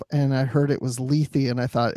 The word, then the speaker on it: Lethe: to talk about Star Trek discovery episode six leafy did I pronounce that correctly you absolutely did because I